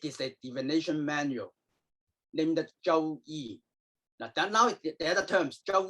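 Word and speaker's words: 周易: also refer to this book as another name, Zhou Yi. Okay. Bien, lo que dice Donald es que bueno, el libro que llamamos I-Ching también se lo conoce como, how do you pronounce it? Zhou. Zhou Yi.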